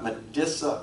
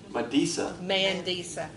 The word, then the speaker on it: Mandisa: I may not pronounce her name right. Medissa Hunley, a gospel singer, was on the 12th finalist on American Idol. When she met the judges... Mandisa.